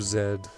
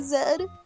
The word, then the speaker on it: Z: name would be dub Zed no it's still dubs I'm so confused you just pronounced like the letter by itself a zed oh instead of Z but it's it's still